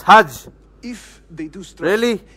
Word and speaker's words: Hajj: It's Hajj!